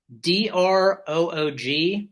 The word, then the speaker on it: DRÖÖG: I'm pretty sure it's pronounced DRÖÖG. I think it's DROOG, but both O's have umlauts.